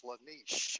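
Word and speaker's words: Slaanesh: I think the name you're talking about is Slanesh. I think is how it's supposed to be pronounced.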